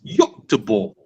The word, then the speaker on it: Göteborg: The pronunciation for Swedish people is Göteborg.